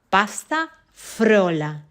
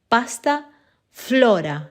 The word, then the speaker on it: pasta frola: comprehension exercise to repeat let's see how you say pasta frola with r pasta frola and badly said that many of us speak rp and we say it wrong it's pasta Flora with an l of course the problem